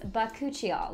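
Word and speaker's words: bakuchiol: to discuss an alternative and that alternative is bakuchio which is a word that i just figured out how to properly pronounce but cucciol is actually more friendly towards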